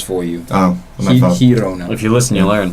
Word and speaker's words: Girona: Girona.